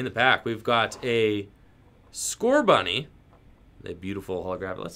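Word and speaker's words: Scorbunny: correctly I don't know how do you pronounce score bunny is it its score bunny right that's the way I've always said it score bunny there are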